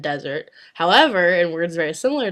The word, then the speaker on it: désert: When there's only one S, it's pronounced as a Z. For example, in the words poison and désert, poison and desert.